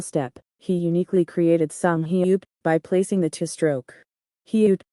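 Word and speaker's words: 히읗: The letter name is hyut.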